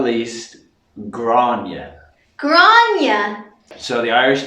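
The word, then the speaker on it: Gráinne: So if you know any Graces, their Irish name is Grania. Grania.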